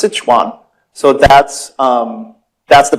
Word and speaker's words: Sichuan: most of you probably know the word as sesan people say sesan chicken it's actually pronounced Sichuan so that's um that's the province there it's